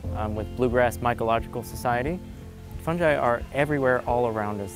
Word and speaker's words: fungi: A lot of people call it fungi, but it's actually pronounced fungi.